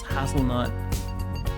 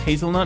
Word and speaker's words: hazelnut: I was pronouncing it as hasselnut, which sounds really weird. Now that I Now that I know that it's hazelnut and then I say hasselnut, it sounds really strange.